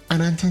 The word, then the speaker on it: Ananta: No, I did not say Nier Automata. I said Anananta. Different game, very similar pronunciation. It's another gacha that's coming out later. It's not, it's not out yet. Ananta, there you go.